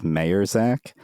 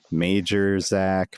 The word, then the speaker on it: Mayerzak: His last name was Mayerzak. And I'm pretty sure that I'm the only person that ever pronounced his name correctly. At least the other students were. Anytime that his name was announced at competitions, it was Major Zach, Major Chak.